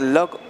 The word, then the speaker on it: Lugg: Keith, you pronounce it lug or lug? Lug. L-U-G-G. I know, yes. Lug, like luggage.